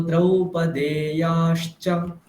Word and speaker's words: द्रौपदेयाश्च: सौभद्रो द्रौपदेयाश्च, सौभद्र द्रौपद्याश्च দেটা দীর্ঘ, দে একারটা দীর্ঘ।